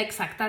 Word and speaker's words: exact: No se pronuncia como si fuera una X. Se pronuncia como si fuera una G, como huevo, egg, y después una S vibrada.